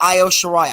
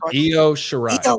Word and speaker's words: Io Shirai: And for the women's championship, it's going to be Toni Storm versus Io Shirai. I think I said her name right. No, you said it wrong. Io Shirai.